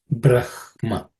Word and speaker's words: Brahma: rather simple just to some people pronounce Brahma as Braha also uh I will not get into it its uh area where people can have different views uh many many Orthodox people would say Braha but the the correct pronunciation brah Brahma but Brahma is also accepted so I will not uh but the correct pronunciation from what I understand and what I believe is Brahma okay so I will